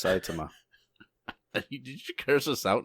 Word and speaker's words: Saitama: No, it's Saitama.